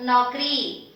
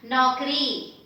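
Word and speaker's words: नौकरी: But instead of saying naukari, the becomes short because of the long matra at the end. So make this a little shorter when you are saying it. So naukri, naukri.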